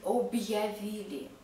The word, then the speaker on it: объявили: Hard sign is not pronounced. It divides consonant sound and following vowel sound. For example, we don't read objavili because of the hard sign. We read objavili, objavili, not objavili without